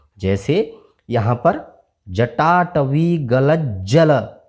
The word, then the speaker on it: जटाटवी: जैसे यहाँ पर जटाटवी गलत जल। अब यहाँ आधे ज के बाद पूरा ज आया तो इसको थोड़ा तेज पढ़ना है। जटाटवी गलत जल प्रवाह पावित